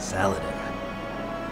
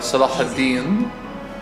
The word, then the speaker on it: Salah ad-Din: Salah ad-Din. My hero. Or Saladin. Saladin. Big boss. He took me away from all that. Saladin? You mean big boss? I became a sniper. It's actually Salah ad-Din.